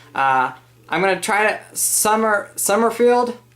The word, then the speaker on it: Sommerfield: Sommerfield? Did I say it right? Yep.